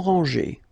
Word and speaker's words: rangée: Des maisons en rangée. Final E and final S are not pronounced.